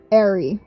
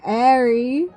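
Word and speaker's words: Airy: How do you say the end of the word January? Jan January. Oh, there you go. There you go. Is it Is it clicking? Is it clicking? January ary air.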